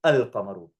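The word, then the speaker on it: القمر: And huruf al-qamariyah are those letters, when al precedes them, the lam is pronounced with a sakin, al-qamaru.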